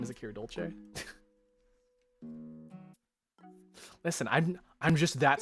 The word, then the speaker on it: Dolce: It's so funny how people can't pronounce my last name. Dolce.